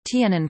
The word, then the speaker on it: תנין: Some creationist organizations propose that the Hebrew word tanin, tanin pronounced tan-nin, mentioned nearly 30 times in the Old Testament, should be considered a synonym.